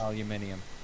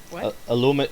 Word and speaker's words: aluminium: is causing a pain and me being racist aluminium aluminum it was originally aluminum you guys made it